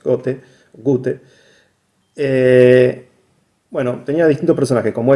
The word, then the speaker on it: Goethe: Era una parodia del Fausto de Goethe, Wolfgang von Goethe, o Goethe, como en realidad le digo yo, pero si uno escucha cómo se pronuncia es Goethe.